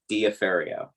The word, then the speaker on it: Diaferio: personal last name, where it's spelled exactly the way you pronounce it, Diaferio, right?